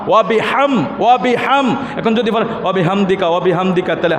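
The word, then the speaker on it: وبحمدك: আমার সাথে ভালোভাবে উচ্চারণটা করবেন, সুবহানাকা আল্লাহুম্মা ওয়া বিহামদিকা। হাম পড়বেন না, হা।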